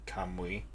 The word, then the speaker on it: Kamui: Kamui is pronounced two syllables like Kamui. Oh yeah, see now, like oui. Yeah, it's like French, like oui. Or is it German? No, French, like, yeah, like oui.